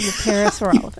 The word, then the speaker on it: parasaurolophus: Ducky was in the hydrasaur family of the the the parasaurolophus. The same family of the parasaurolphus.